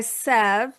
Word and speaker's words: Sev: English and it's very hard for Americans pronounce se which means love. So I go by Sev which also means love and my last name means full.